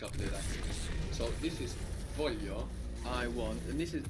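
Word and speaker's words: voglio: lot across Italian dialect the G is pronounce like a y here it's soft no so the first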